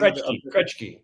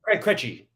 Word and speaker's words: Krejci: I would like you to pronounce the name. Krejci. Oh, Krejci. Krejci.